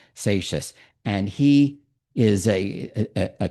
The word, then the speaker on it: Seixas: His name was Gershom Mendes Seixas. That's how you pronounce it, even though it has an X. Seixas.